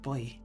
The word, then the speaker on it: buoy: it's like buo y the way that buoy is supposed to be pronounced boy anyway so that is